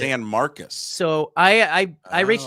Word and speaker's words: San Marcos: I pronounced it San Marcos the first time I saw it. San Marcos State. San Marcus is how they pronounce it. San Marcus.